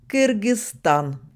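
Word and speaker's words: Кыргызстан: dit kirgz Bank et donc le nom du pays se prononce kirgzan alors que l'habitude en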